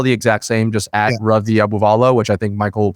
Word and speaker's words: Ravi Abuvala: It's all the exact same, just at Ravi Abuvala, which I think Michael will put in the notes. Can you spell it for the audio folks?